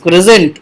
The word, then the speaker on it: christened: CHRISTENED करके लिखा हुआ, that is टू बी रेड एज क्रिजेंट. उसको क्रिजेंट पढ़ते हैं, जबकि स्पेलिंग उसकी क्रिस्टेंड करके रहती है. तो उसको लेकिन पढ़ा जाता है, उसका प्रोनाउंसिएशन क्रिजेंट होता है.